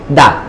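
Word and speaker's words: د: কোন সমস্যা হবে না আবার একবার উচ্চারণ বলি বলেন একক রূপের উচ্চারণ কি দা কি উচ্চারণ দা বলেন মিডিলে বলেন দা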